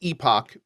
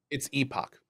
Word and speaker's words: Epoch: Yes, apparently there's a British accent in the game, and apparently in Britain it is pronounced Epoch, and then in America and other places it's pronounced Epoch or Epoch, like with a U.